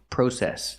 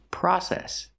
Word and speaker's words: process: The word is not pronounced process. Yes, it fucking is. That's an alternative pronunciation. A lot of people pronounce it that way. It's pronounced process. Use the short ah like hot and stop.